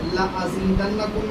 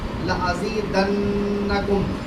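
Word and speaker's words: لَأَزِيدَنَّكُمْ: آپ کہیں لأضربن، لأفعلن، ایک نون ہوتا ہے جس پہ تشدید لگی ہوتی ہے، جس کو ہلکا سا وائبریٹ کر کے اس کا پروننسیشن ہمیں کرنا ہوتا ہے، اس کا تلفظ اس طرح کرنا ہوتا ہے۔ لأزیدنکم، لأزیدنکم میں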